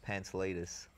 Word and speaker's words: Pantelidis: your full name I it's quite confusing to pronounce right it is it is my full name is is pants latus so you got a lot of Steel when